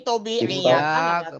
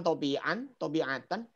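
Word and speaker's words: طبيعةً: Ini tobi'iyatan. Kemarin. Sudah disinggung, udah. Tobi'iyatan bacanya bukan tobi'atan. Oh, salah itu mestinya tobi'atan. Ya-nya hilang, betul itu.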